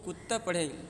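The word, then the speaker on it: كِدْتُ: اصل میں کتا تھا، دیکھیے اس کو کتا پڑھیں گے یعنی تلفظ میں دال نہیں آئے، کتا پڑھیں گے اس کو، لیکن لکھا ایسے ہی جائے گا کودتا، لیکن پڑھا جائے گا کتا۔ تو کہہ رہے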